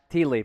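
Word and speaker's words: ti leaf: T.I. Leaf, pronounced T. It's for good luck here in Hawaii. Tea leaf.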